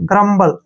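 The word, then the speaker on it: grumble: का उच्चारण ब करेंगे एल का उच्चारण ल और री का उच्चारण हम नहीं करते हैं ग्रम्बल इसको ऐसे बोलते हैं ग्रम्बल ठीक है ना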